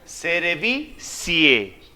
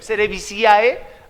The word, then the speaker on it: cerevisiae: que digan, este sabe, cuando se une la A y la E, se pronuncian como si fuera E. Nada más. ¿Cómo se leería? Cerevicie. Cerevicie. Entonces, si yo los escucho, Cerevisiae, este no sabe nada.